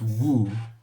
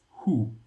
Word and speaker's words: who: Okay, it's not woo, it's who.